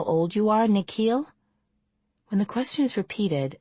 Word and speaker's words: Nikhil: The way the principal pronounces his new name is different from the way his parents say it. The second part of it longer, sounding like heel.